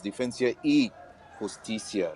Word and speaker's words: Defensa y Justicia: As you can see right now, Churchill brothers as well as the team from Buenos Aires, Defensa y Justicia. Did I pronounce it correct? Well done. Well done.